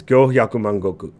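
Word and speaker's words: 五百万石: It's Go Hyaku Mangoku. はい。よくできました。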